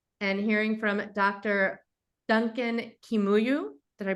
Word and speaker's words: Kimuyu: Duncan Kimuyu. Did I pronounce it correctly?